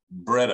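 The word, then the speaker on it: Breda: Italians had a gun they called the breader I think it's pronounced b-r-e-d-a it was basically an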